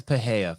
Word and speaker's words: Pereira: I would argue that Pereira's what did you how do you pronounce his name, Val? Pa. Pa. I would argue that Alex Paha 50 minutes in the show, I finally got his name right.